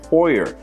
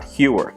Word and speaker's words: Heuer: We have 612 comments, out of which Bill says, Jaime, Tag Heuer is pronounced Tag Heuer, not Heuer.